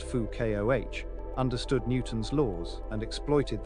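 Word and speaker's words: Foucault: like any good physicist Fuko pronounced Fu Koh understood Newton's laws and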